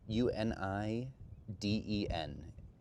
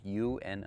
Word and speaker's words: Uniden: But yeah, Uni Den. So, Uniden, I believe, is how you pronounce it is the name of it or the brand at least.